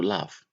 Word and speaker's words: laugh: This we pronounce it like f.